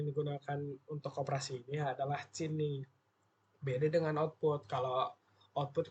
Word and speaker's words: cin: Pada bahasa C++, perintah yang digunakan untuk operasi ini adalah cini. Beda dengan output. Kalau output kan cout, outnya itu output. Kalau c ini c input itu bacanya.